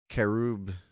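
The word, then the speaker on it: Charybdis: monster herobdis cherub dis cherry sherry bidis it's pronounced kerub yes rubbus such as odysseus yeah she's really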